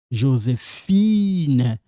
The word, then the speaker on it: Josephine: Josephine.